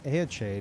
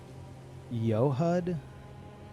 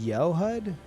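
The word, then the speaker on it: Eochaid: Fun fact, the regalia of aade is actually pronounced more like yohud as it is a Gaelic word. Aade is yud.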